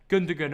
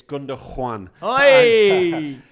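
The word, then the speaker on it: Gündoğan: let's start with ilkai gundagan or am i saying it wrong dat it's gunder juan no gunder juan of the threes the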